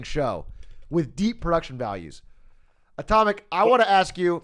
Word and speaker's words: atomic: how to say it there's atomic and then it's just my initials uh so i should never say the sk yeah it's just silent got it well all